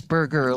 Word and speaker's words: Berger: It's burger, like a hamburger. Okay. But it's BERGER.